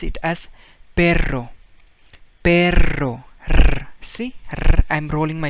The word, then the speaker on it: perro: make it you know you roll your tongue so that's what you need to make whenever you see double r abra so let's see